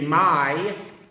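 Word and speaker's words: mãe: Portuguese is simply my, which is spelled m ae, by the way.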